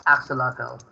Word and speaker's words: axolotl: Does anyone know how to pronounce that? It's axolotl.